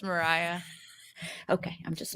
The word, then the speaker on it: Mariah: Well, it's in Russian. Her name would be Maria. Okay. But it is, I think, pronounced Mariah from what I've been able to understand.